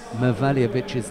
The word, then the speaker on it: Mevaljevic: You think, yeah, that's right, because I didn't have a clue when I first saw Serdan Mevaljevic's name.